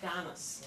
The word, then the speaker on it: Donis: My name is Donis, like Dennis with an O.